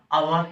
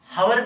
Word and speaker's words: hour: पे क्या है, HOUR, क्या हम इसको हावर पढ़ेंगे या अवर पढ़ेंगे? इसको हम बच्चों अवर ही पढ़ते हैं, हावर नहीं पढ़ते हैं।